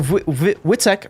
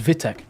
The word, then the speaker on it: Witek: Also, Witek reads as Vitek. Oh, okay. My bad. I've been pronouncing it wrong this entire time then.